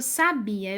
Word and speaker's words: sabia: com bastante força né se eu quero dizer que eu sabia eu digo hahaha eu já sabia ob foi falado com mais força não foi mas aqui